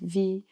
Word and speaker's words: Faust: Yeah, is it how I pronounced it? Like Vaust.